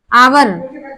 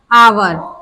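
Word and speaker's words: hour: honest इसी तरह आवर आवर क्या बोलेंगे हम आवर यानी कि एच साइलेंट रहता है क्योंकि हमारा ये वावेल आया है अच्छा कुछ वर्ड्स में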